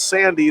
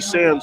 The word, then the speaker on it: Sandy: coming from the parents we know that it's sandy the the guy upstairs in the box he's calling him jesse sands still so that's one of